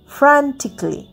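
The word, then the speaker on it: frantically: এ এল এল ওয়াই ফ্রান্টিকলি ফ্রান্টিকলিও এটা কিন্তু উচ্চারণ হচ্ছে না শেষের এটা উচ্চারণ হচ্ছে না।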